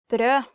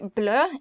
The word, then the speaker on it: brød: Actually, if you mistake the pronunciation of brød and say blø, it means bleed, so be careful.